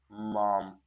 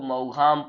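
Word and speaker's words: Maugham: ठीक है, स्पेलिंग में मत कंफ्यूज होना, WS means William Somerset, मॉम MAU, लोग इसको मऊघाम पढ़ लेते हैं, लेकिन क्या है ये, मॉम है, WS मॉम।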